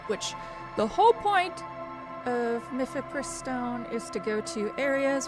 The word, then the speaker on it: Mifepristone: Mifepristone, I believe is how you say it, which